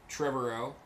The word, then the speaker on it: Trevorrow: star wars yeah also colin trevorrow rhymes with tomorrow from the east bay